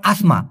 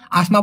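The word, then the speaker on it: asma: হ্যাঁ যে গরম জ্বর হাফানি কে বলা হয় আসমা ওই যে শ্বাসকষ্ট আর কি এটাকে মালয়েশিয়ান ভাষায় আসমা বলা হয় আমাদের বাংলাদেশে সাধারণত অনেকে এজমা বলে তবে হবে হচ্ছে আসমা মালয়েশিয়ান ভাষায় যে জিনিসটা আমি ভাঙ্গায়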